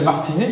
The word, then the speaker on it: Martinez: Et encore que vous avez une vieille famille lilloise qui est connue depuis le XIVe siècle, qui s'appelle Martinet et qui s'écrit EZ, et qui n'a pas d'ancêtre espagnol.